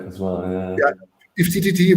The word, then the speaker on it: IFTTT: IFTTT, what is it? IF3T.